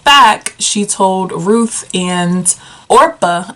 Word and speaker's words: Orpah: And when she decided that she wanted to move back, she told Ruth and Orpah. I have to think not to say Oprah because it's spelt so similar.